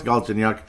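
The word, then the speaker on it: Galchenyuk: be done forever and get it it's Alex ginuk had a couple of assists in the game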